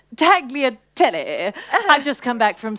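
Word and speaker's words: tagliatelle: place is just Divine taglia Telly sorry it's pronounced taglia tele I just come back from Sorrento actually the Italians wouldn't dream of saying it the way you just did that was very gorgeous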